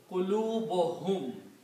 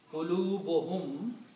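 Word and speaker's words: قلوبهم: If we combine them, then the way they are pronounced, 2 dhammas are not pronounced here. It becomes qulubuhum. Their hearts. Qulubuhum.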